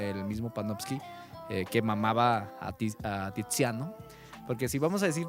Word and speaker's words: Tiziano: C se pronuncia como Che, pero la Z se pronuncia como S.